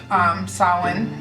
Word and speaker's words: Samhain: It looks like Samhain, but it's actually pronounced Samhain.